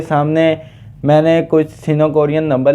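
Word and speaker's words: 삼: कहते हैं खंग खंग य आप लोगों के सामने वन लिखा है इसे हम सीनो कोरियन नंबर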